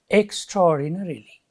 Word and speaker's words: extraordinarily: the word is extraordinar extraordinarily extraordinarily extraordinarily it's an adverb its number of syllables is six it has been given in your book extra six and its second syllable is a stress you can see here